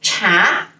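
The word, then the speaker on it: 茶: uh character for example this character's pronunciation is cha cha cha means t and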